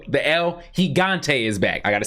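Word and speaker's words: El Gigante: it continue but we see the L the L higante is back I gotta say it right because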